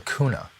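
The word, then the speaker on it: Guna: And they've got 360 islands called the Kuna, spelled with a G, G-U-N-A, but Kuna Yala.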